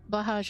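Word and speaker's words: Blåhaj: Po's face I mean blahaj is just I think it's Blaha I don't think you pronounced the J but I could be wrong um is a trans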